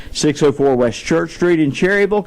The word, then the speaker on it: Cherryville: You're not pronouncing it right. I said, we live in Cherryville. She said, that's not the way you pronounce it. It's Cherryville. That's the way it's written, it looks like to me. Cherryville. But hey, I'll do as the locals want.